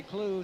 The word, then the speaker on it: Clough: Well, coming from Scotland, he would have to say Robbie Clough, but he says Robbie Clew, so doesn't matter how you say it or spell it, he's still a good player.